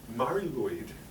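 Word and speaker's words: Mari Lwyd: So, Mari Luid is how it's pronounced. It's almost like Mari Lloyd.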